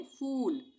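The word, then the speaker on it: fool: इसको हम कैसे पढ़ेंगे? फूल नहीं पढ़ेंगे। इसको हम पढ़ेंगे फूल। एफ डबल ओ एल फूल खींच के।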